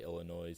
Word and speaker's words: Illinois: are probably saying that it's pronounced Illinois I can't say it like it's just uncomfortable for me to say Illinois so Illinois's is the way I'm gonna say it throughout this whole episode if you guys don't